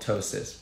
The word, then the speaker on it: ptosis: the eye that's called ptosis ptosis I beg you not to pronounce the P it's not there it's doses so that's